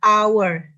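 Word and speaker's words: hour: warna huruf a hanya itu tidak ada Jadi dibacanya our jadi karena bunyinya vokal maka menggunakan article on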